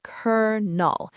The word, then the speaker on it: colonel: It's a total rebellion against its own spelling. It is. So, our final sound is cur null.